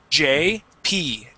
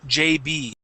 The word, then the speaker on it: JP: P JP excellent okay remember that P sound uh uh sometimes um that P gets pronounced like a b so focus on that P sound so you're not saying JB but it's JP okay all right that's